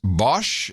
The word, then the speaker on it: Bosch: Matthew Bosch, pronounced Bosch.